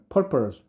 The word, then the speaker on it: purpose: His purpose, 목적은 요거 발음할 때는 purpose, 이거는 R이고요. purpose죠.